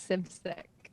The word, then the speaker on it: Simcik: uh lindsay i'm going to say your last name wrong can you say it for me yeah of course sip sick thank you christy williams i meant to ask